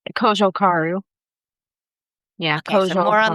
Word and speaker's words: Cojocaru: Yeah, I know I put too much emphasis on the "jo" part. Say it for us. It's Cojocaru.